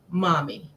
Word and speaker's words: Mommy: Is it Mammy? Mommy. Maybe. Yeah, so Mommy Bolton, Mommy. yes, There we go.